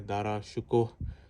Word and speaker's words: دارا شکوہ: میں نے دارا شکوہ لکھا تھا اور انہوں نے مستند حوالوں کے ساتھ لکھا ہے دارا شکوہ. صحیح تلفظ ہے.